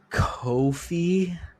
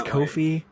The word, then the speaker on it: Ko-fi: our uh socials and a link to our Kofi as I've learned is how it's pronounced and I don't like it it's Kofi I don't like it I don't like it